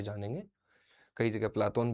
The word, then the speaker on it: प्लेटो: प्लेटो का एक नाम आपने सुना होगा, प्लाटोन। प्लाटोन या अफलातून। प्लाटोन यूनानी उच्चारण है, अफलातून अरबी उच्चारण है।